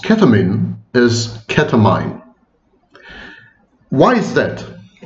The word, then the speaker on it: ketamine: But of course, the correct pronunciation is ketamine.